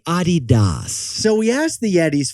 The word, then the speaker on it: Adidas: we all say incorrectly besties you put the wrong and fastest on the wrong syllable for instance Ikea is actually Ikea for example Adidas is actually Adidas so we asked the